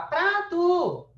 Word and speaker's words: prato: Então, ó, o A, ele é mais comprido. Quer dizer que a sílaba mais forte é pra. Não é a última.